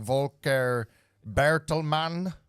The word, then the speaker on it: Volker Bertelmann: I'm not a fan of Volker Bertelmann.